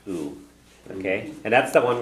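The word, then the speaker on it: -adh: And it ends in ADH, and the ADH is pronounced u.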